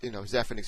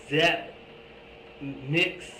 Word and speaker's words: Zephyrnix: The Z-E makes a Z sound, or the Z sound rather.